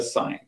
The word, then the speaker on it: sign: Yeah, so let's just call it a sign. So sign, there's signs everywhere you go. Okay, so a sign, again, the pronunciation. So the G is silent.